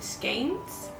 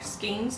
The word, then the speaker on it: skeins: And so the first step that we're gonna do is I need to wind all of these into skeins, or skeins, depending on how you pronounce it.